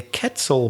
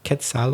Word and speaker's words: quetzal: internet is that the quetzal bird i think it's pronounced that quetzal or quetzal bird is on the coat